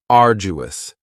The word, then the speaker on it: arduous: And arduous has three syllables and the stress is on the first syllable. Ardu. Now, you don't hear that D sound that much. It's not very strong. It almost sounds a little like a J.